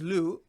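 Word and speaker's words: 六: See, the thing about the number 6, which is pronounced as Lu, this is the number 6 has the meaning of good luck, right?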